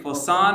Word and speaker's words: Poisson: All right, Poisson ratio. I think you pronounced it correctly.